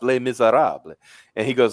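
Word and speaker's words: Les Misérables: He said it's like that play Les Miserables. Oh, No, it's pronounced Les Miserables.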